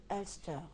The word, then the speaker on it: Ulster: Dites oui, c'est on prononce Ulster, beaucoup plus Ulster. Ulster, oui, si Ulster. On veut y mettre l'accent anglophone.